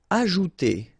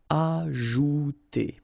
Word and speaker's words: ajouter: Ajouter. So remember, J is really pronounced like J. Ajouter.